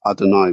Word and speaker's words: Adonai: Another way is Adonai, which means something like my Lord.